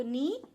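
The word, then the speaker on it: knee: तो नी, नीज। और देखिए यहाँ पर के साइलेंट है, ठीक है, नी नहीं बोलना है इसको, नी बोलना है, नी, नीज।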